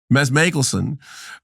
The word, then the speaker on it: Mads Mikkelsen: Meanwhile, behind all of this, like the shark from Jaws, is, correct my pronunciation, Mads Mikkelsen, tell me how to say it again. Mads Mikkelsen, as I'm not a Nazi, I am a Nazi, I'm not a Nazi, but I really am.